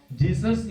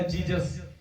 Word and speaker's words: Jesus: जो जीजस बोलते हैं वो जीजस नहीं होता, जीसस सस होता है ना। अब उसकी स्पेलिंग में जाकर जीसस मत बोल देना, ठीक है। जीसस होता है, जीजस नहीं होता, जीसस होता है, ठीक है।